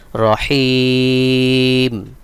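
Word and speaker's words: رحيم: সঠিক উচ্চারণ হবে রহিম।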